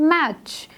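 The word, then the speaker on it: match: मैच में टी जो है वो एक साइलेंट लेटर है, और मैंने आपको पहले ही बताया था कि सी एच से पहले जब टी आता है तो वो मोस्टली क्या होता है? साइलेंट।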